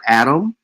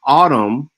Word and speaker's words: atom: But when you see the word Adam, it is pronounced autumn as in uh and we